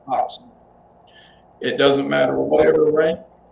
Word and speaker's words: coxswain: Just like the job that we that was spelled c o x s w a i n Uh-huh. Coxswain. Right.